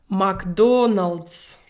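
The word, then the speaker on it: Макдоналдс: McDonald's. Even though it's written LDS at the end, McDonald's. I pronounce it a bit softer here, McDonald's.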